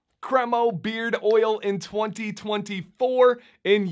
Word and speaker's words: Cremo: cremo beard oil in 2024 and yes that is how you pronounce it I went through their YouTube videos until I found a video where they pronounced it cromo now this is a beard oil that was